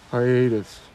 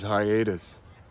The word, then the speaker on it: hiatus: some other world this is not a Hiatus aratus come I believe the word is Hiatus can you spell that for me please h i a t